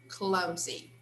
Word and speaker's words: clumsy: like she is clumsy clumsy here it has a sound of z okay she's clumsy are